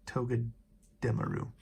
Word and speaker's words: Togedemaru: Yeah, Togedemaru.